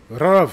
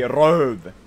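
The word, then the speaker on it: röv: to save this letter we pronounce it like uh like if someone is far away and you want to call them you can just go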